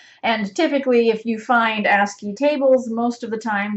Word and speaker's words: ASCII: or ascii table so ascii stands for the american standard code for information interchange and we just pronounce it ascii it's an acronym um and so if